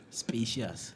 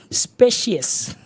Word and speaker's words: specious: We'll find the correct pronunciation specious and not spacious. Hey, not spacious in space. No, it's not having space.